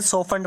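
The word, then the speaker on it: softened: तो ध्यान रखना यहाँ पर टी साइलेंट, इसे सॉफ्टन्ड पढ़ा जाएगा।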